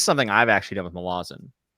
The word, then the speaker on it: Malazan: They actually mispronounce it, because it's not Malazan. Apparently, it's Malazan.